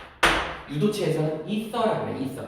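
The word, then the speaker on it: ether: 글리코사이드 결합이라고 또는 이렇게 있는 걸 유도체에서는 이서라고 그래. 이서. 에테르라고 그래. 에테르. 영어식 발음으로 이서예요. 이서.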